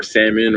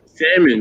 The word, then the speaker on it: salmon: know it's funny I I judge people who say put the L in salmon well you know it's